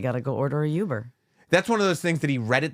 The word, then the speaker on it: Uber: is um proper but he calls it Yuber and not Uber Uber you got to get you got to go order a uber that's one of those